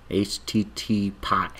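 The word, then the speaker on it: HTTPie: I always say it wrong. HTTP pi. That's how you say it.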